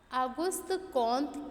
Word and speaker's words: Auguste Comte: फ्रांसीसी भाषा में इनके नाम का उच्चारण ऑगस्ट कॉन्ट किया जाता है।